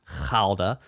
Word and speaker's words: Gouda: so it was a gouda cheese which I know you're supposed to pronounce khalda for gouda but hey whatever uh